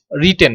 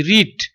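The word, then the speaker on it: read: Present ফর্মের উচ্চারণটা হচ্ছে আরইএডি রিড, আর পাস্ট ফর্মের উচ্চারণটা হচ্ছে আরইএডি রেট, আর পাস্ট পার্টিসিপল ফর্মের উচ্চারণটা হচ্ছে রেট।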